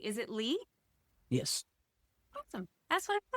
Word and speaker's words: Lih: Is it Lih?